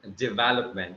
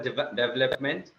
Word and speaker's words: development: It is development. Okay. It's never development.